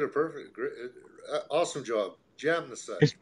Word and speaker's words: Jamnisek: Jam in the sack. It's not jam in the sack, is it? Jam in the sack. Yeah, it's perfect. Awesome. J-A-M. Jam. Yeah. Spell it out for him, Ed. Jamnisek.